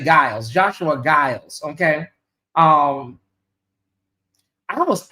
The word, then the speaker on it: Giles: It's pronounced like a J. Giles. Okay, we'll say Giles.